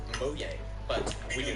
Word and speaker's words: Mojang: He founded Mojang Studios. Technically, in Swedish, it's pronounced Mojang, but we do not care.